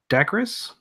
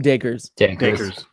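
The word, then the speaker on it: Dacres: Dakris? Is that how it pronounced? Oh, Kadeem Dakers. Dakers in the 14th minute.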